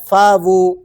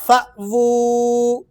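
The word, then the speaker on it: فَأْوُۥٓا: بعض ساتھی پڑھتے ہیں فاوو۔ ایک بات یاد رکھیں، حمزہ جب بھی کسی حرف کے ساتھ ملتا ہے تو وہ جھٹکے کے ساتھ پڑھا جاتا ہے۔ اب اس کو کیسے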